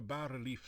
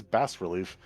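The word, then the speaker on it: bas-relief: sculpture of a knife is that how you pronounce that i thought it was always bass relief i've been doing it wrong my whole life the coffin cover is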